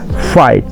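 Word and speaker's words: fight: যেমন নাইট নাই সমান সমান আই হয়ে যাচ্ছে এন আই জি এইচ টি নাইট উচ্চারণ হবে নাইট তারপরে ফাইট এফ আই জি এইচ টি ফাইট আই জি এইচ এর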